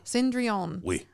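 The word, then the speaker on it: Cendrillon: it was cinderella um i think they pronounced it cinderell cindreon um and it was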